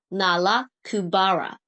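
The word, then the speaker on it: Nalakubara: It was not a Chinese name, so it was actually a shortened transliteration of its original name, pronounced as Nala Kubara.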